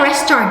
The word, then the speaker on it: restaurant: Gak, ini bacanya restaurant ya. Jadi restoran itu bacanya bukan restoran atau restoran. Bacanya itu restaurant gitu. Restaurant. Oke, jadi cuma 2 syllables aja kalau mau baca cepat.